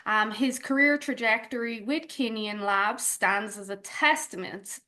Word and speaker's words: Kineon: Kenyan, am I pronouncing it correct?